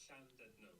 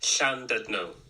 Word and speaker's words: Llandudno: It's pronounced Llandudno. Do you want to hear this, everyone? Right, let's just see if we can get the sound on this. Are you ready? It's pronounced Llandudno.